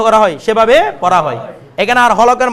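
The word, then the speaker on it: ث: আচ্ছা এইটা যখন আমরা ইয়া বলি মানে আরবিতে বলি তখন আমরা বলি সা সা, এভাবে বলি, কেমন, মানে জিহ্বার মাথাটা কিসে উপরে দাঁতের সাথে লাগে, সা, এভাবে উচ্চারণ করে, তাই না। এখানে এত তাল করার দরকার নাই, শুধু সে, ফার্সিতেও উর্দুতেও সেম উচ্চারণ, সে কি, এটা একদম সে, এভাবে বলার দরকার নাই। বিষয়টা বুঝতে সে স্বাভাবিক উচ্চারণ হবে, কি উচ্চারণ হবে সে।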